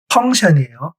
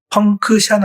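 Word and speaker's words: function: 하나 예제를 더 드려 본 겁니다 그런데이 K 발음이 안 나는 것은 규칙적 있니다네 NC TI을 끝나면 다 션으로 읽으면 됩니다 대표적인 단어가 펑션이 펑크션 아니에요 펑 폰인데으로 바꾼 거예요 펑션 펑션 기능이란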